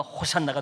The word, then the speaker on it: 호산나: 호시아나라는 말을 빠르게 발음하다 보니까 호산나가 된 거죠.